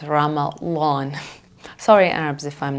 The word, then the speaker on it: Ramadan: month when Muslims fast they would pronounce it Ramadan so it's not completely it's Ramadan sorry Arabs if I'm